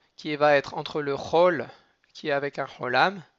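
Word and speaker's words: כל: Le chol, il va se prononcer entre un cholam et un kamatz.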